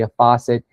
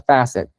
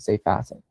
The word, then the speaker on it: facet: And the idea that comes from the diamond industry, a faucet is a side of a diamond. Diamonds have many different sides and each one is called called a facet. I should say facet uh is the correct pronunciation.